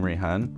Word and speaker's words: Rayhaan: By the way, if we haven't met before, I'm Rayhaan, rhymes with Ray-Ban, like the glasses.